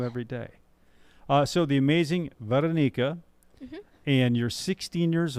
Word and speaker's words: Veranica: So my name is Veranica. It's with an A. So you Veranica. Vera and then Nika. Veranica. Yeah, Veranica. Veranica. Mhm. See, I learn something new every day. So the amazing Veranica, Mhm.